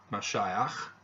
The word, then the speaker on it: Mashiach: the prophets reference to Mashiach the Messiah that's the Hebrew pronunciation is also made in